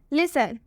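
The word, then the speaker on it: listen: में बताया गया है तो उसमें टी का उच्चारण नहीं होगा लिसन में भी लास्ट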